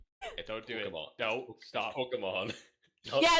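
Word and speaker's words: Pokémon: do it don't stop pokemon yeah it's pocket monster so there's an e there not an eye and he says like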